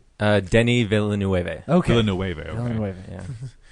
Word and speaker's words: Denis Villeneuve: How do you say Dennis Villeneuve? Denis Villeneuve.